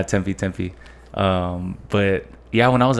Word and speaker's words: Tempe: was going through like Tempe? Is that how you say it? Tempe, yeah. I thought it was Tempe. Nah, Tempe.